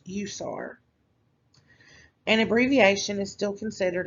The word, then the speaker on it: USAR: separately example emt um an acronym forms a word example is urban search and rescue or usar which is pronounced usar an abbreviation is still